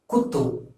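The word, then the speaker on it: குத்து: So you have to pronounce this as kutu.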